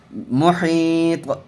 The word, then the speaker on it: محیط: محیط، میم پیش مو، حا یا زیر حی، محی، طا ساکن، محیط.